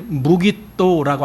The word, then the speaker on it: 무깃도: 그리고 우리말에 마겟돈 이렇게 한 그 단어는요, 히브리어의 무깃도라고 하는 단어입니다. 무깃도. 여러분 그게 무슨 뜻인지 알겠죠? 그래서 아마겟돈 하면은 무깃도의 산, 그렇게 되는 거예요. 무깃도의 산.